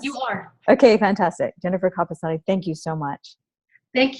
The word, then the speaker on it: Capestany: Jennifer Capestany. I'm pronouncing it correctly, yes? You are. Okay, fantastic. Jennifer Capestany, thank you so much.